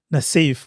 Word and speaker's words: Nasif: What's the pronunciation? Nasif.